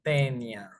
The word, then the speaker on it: Taenia: Familia Tenidae, género Tenia o Taenia, que en realidad cuando te juntas una A y una E en latín, que es el idioma de la taxonomía, se pronuncia como E. Puede ser Tenia solium y saginata, las